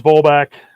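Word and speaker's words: Vollebak: is this crazy um but you know here's volback v-o-l-l-e b-a-k is how that's spelled um raw hemp collection organic hemp organic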